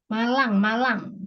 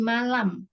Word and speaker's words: Malang: Malang. Bukan di malam.